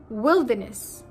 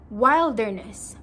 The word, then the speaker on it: wilderness: So the first one is wilderness. Now, people oftenly mispronounce it as wilderness.